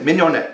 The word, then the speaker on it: mignonette: Yep, mignonette.